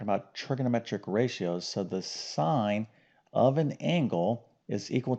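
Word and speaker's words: sine: H sign okay now if you were to spell it out it's s n e but the abbreviation is s i n okay like sin all right but it's called sign okay so remember I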